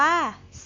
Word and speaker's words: สระ: ต้น ค่ะ ต่อ มา คำ ว่า สระ นะ คะ ออก เสียง ว่า ว่า สะ สะ สะ สะ หมาย